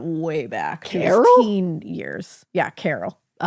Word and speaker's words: Caryl: Yeah, Carol. Oh. Um, and it's Carol K. Uh, C A R Y L. Oh, that's how you spell it.